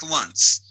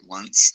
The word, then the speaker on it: Luntz: Frank Luntz, that's how you say his name, isn't that right? Frank Luntz.